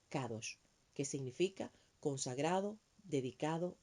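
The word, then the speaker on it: קדוש: palabra 69 18 y se pronuncia kadosh que significa consagrado dedicado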